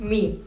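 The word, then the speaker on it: mig: बट आपको माई को माई नहीं प्रोनाउंस करना है, माँ प्रोनाउंस करना है। बिकॉज जब डेनिश लोग बात करते हैं तो वो बहुत जल्दी जल्दी बोलते हैं और माई माँ जैसा साउंड करता है।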